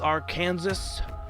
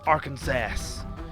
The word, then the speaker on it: Arkansas: pronounce our state's name it's arkansas with three syllables and you gotta have an a at each syllable and you gotta have the s be silent you cannot say our